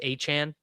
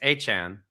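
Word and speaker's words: Etienne: He said, "My name is pronounced Travis Achan."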